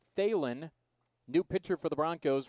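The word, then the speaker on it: Thelen: stretch in athens 34 luke phelan t-h-e-l-e-n 34 luke thalin new pitcher for the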